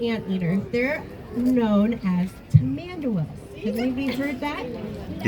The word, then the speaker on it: Tamandua: So, being a type of ant leaders, they're known as tamanderas. I believe you've heard that. Yes. Tamandua, different pronunciations, but all the same.